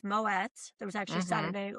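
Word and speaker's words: Moët: It's Moet. There was actually Saturday Night Live skit about that. It's Moet.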